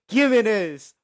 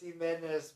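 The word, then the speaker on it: Giménez: And my favorite name that I'm going to say, Andres Gimenez. Woo! I know I butchered his name so bad. It's Jimenez, but we're calling him Gimenez for the bit. Jimenez is his name, but, why not?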